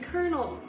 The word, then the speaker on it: colonel: no r in it there's no r in kernel it's spelled colonel anyway okay standing in